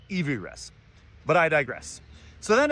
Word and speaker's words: Everest: It should be called Evy Rest.